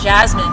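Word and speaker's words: Jazmin: Well, Jasmine, because we love jazz music, we love jazz chords, and we put it into the name of our group.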